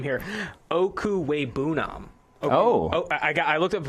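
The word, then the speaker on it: Okwuegbunam: That's what they call him on campus, but I'm going to go ahead and pronounce this name here. Okuwebunam. I looked up the pronunciation right before here, but Okuwebunam, Albert Okuwebunam, number 5 tight end on the board.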